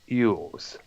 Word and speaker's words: Elwes: Now, Samaha learned of Battlefield Earth from, of course, Cassian Eels, pronounced or actually spelled Elwes, an agent from the theatrical company.